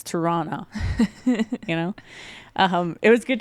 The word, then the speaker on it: Tirana: It's like you pronounce it with the CH. No, we don't. No. No, it's definitely Tirana, Not You know.